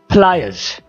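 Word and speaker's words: pliers: एस जो है वो जेड की आवाज़ देता है, जेड का साउंड देता है, आप इसको इस तरह से अदा कर सकते हैं, फ्लायर्स, फ्लायर्स, और इसमें आर को भी हम साइलेंट करते हैं, फ्लायर्स, जायनमाज, प्रेयर मैट, प्रेयर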